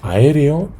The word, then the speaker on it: aéreo: Es decir, cuando tenemos aéreo, tenemos una palabra esdrújula.